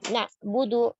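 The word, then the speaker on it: نَعْبُدُ: Ya, na'budu. Nah, ini jadi hamzah. Na'budu. Na'budu. Ya. Sempurnakan dhammahnya dal. Na'budu, tidak na'budu, do. Bisa do, tapi du. Na'budu. Dan hati-hati jangan tebalkan huruf dal, sehingga menyerupai huruf dot.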